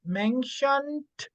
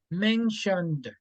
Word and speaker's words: mentioned: okay good thank you is not mentioned with t sound but with d mentioned okay mentioned and then